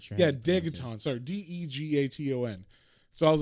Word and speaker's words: Degaton: His name is Dagaton, right? That's how you say it? Yeah, a Dagaton or Dagaton. I'm not sure. Yeah, Dagaton. Sorry, Degaton.